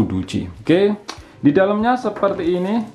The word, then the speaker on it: Doogee: Kalau anjing itu kan Dogi ya. Kalau ini kan Duji. O2 dan E2. Bacanya itu Duji.